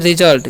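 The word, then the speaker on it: result: हम लोग पढ़ते हैं रिजल्ट क्या पढ़ते हैं रिजल्ट पढ़ते हैं यहां पर एस का ज होता है ठीक है तो रिजल्ट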